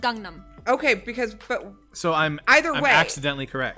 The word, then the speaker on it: Gangnam: Are we saying Gundam style or Gangnam Gangnam. Oh, okay. style? Well, technically it's pronounced Gangnam.